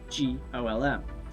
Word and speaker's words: GOLM: He has to be referred to by the last bit, which is, of course, GOLM. Much to his surprise, this ends up being pronounced like Golem anyway.